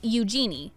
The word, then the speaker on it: Eugenie: She said in her interview with The Telegraph in 2008, the easiest way to remember it is how it sounds like you're saying the phrase, use your knee.